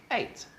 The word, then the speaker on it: ate: tense is bought okay eat past tense is eight yeah like the number eight it's how we pronounce it and felt felt is